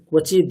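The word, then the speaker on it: ক্বচিৎ: দিগন্ত সন্ততি প্রমোদমান মানসে বাকটাক্ষ ধোরণী নিরুদ্ধ দুদ্ধ তাপদি কচিদ দিগম্বর আর দিগম্বর নয়, ক্বচিদ। যেখানে দেখছেন হসন্ত, উচ্চারণটা হবে ক্বচিদ, কোনো স্বরবর্ণ আসবে না।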